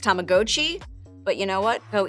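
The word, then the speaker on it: Tamagotchi: wearable version It's called tamagachi uni technically it's pronounced tamagochi but you know what go easy on me I'm a child of the 9s and we all say tamagachi now they still make the classic version but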